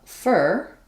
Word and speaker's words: for: kids for the kids notice how again I didn't say for the kids my for became more of a fur uh again with a little schw here that vow gets reduced and this is very